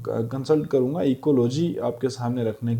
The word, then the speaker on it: ecology: मैं सिर्फ इकोलॉजी पर जो है वो कंसल्ट करूँगा, इकोलॉजी आपके सामने रखने की कोशिश करूँगा। सो इकोलॉजी, लॉजी means to study. तो इसको लॉगी भी पढ़ते हैं कई लोग, लेकिन एग्जैक्ट प्रोनाउंसिएशन लॉजी होती है।